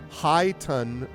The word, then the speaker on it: chiton: High ton with an emphasis on ton. High ton? But is it... But it's high, so chiton or chiton.